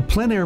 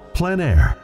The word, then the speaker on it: plein air: In the Plein Air Podcast, we cover the world of outdoor painting, called plein air. The French coined the term, which means open air or outdoors. The French pronounce it plein air.